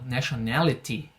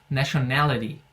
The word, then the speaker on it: nationality: um pouquinho mais marcado, nationality, tá perfeito também, não tá errado não. A minha pronúncia é puxada para o inglês americano, então eu digo nationality.